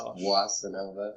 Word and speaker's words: Boissinova: It's pronounced Boissinova.